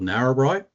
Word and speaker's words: Narrabri: Kelvin, a little correction just in the pronunciation of Australian towns. I come from a place called Narrabri, which is an Australian Aboriginal word for two rivers. So I come from northern New South Wales, which Narrabri is a town predominantly in one of our